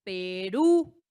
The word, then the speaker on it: Perú: Tenemos a la palabra Perú, Perú. Ahí está, la sílaba tónica recae en la última y como vemos, ¿en qué termina?